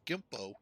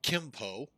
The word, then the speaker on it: Gimpo: But not too long ago, folks, Seoul, Korea, Gimpo, Gimpo, actually the Americans, us, say it Kimpo.